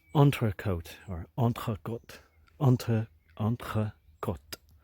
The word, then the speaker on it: entrecôte: If it was entrecôte, same letters but emphasis on a long E at the end, it would mean between the sides.